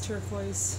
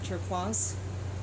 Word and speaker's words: Turquoise: hello this is turquoise uh or turquaz if you'd like to pronounce it in French welcome to my YouTube